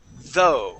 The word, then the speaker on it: though: Now this next word here is going to be though. Okay. It starts off with a TH sound as well. Though. But the O U G H makes an O sound, right?